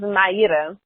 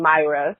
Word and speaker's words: Mayra: full name there uh my name is MAA that's the way that you pronounce it in Brazil uh but after a while living in the US it actually became Myra so I have a